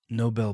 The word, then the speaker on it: Nobel: Nobel Peace Prize. Nobel Peace Prize. Nobel? Did I say it wrong? Yeah, it's Nobel Peace Prize. It's not Noble?